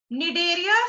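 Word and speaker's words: Cnidaria: निडेरिया सी से start है, सी silent है.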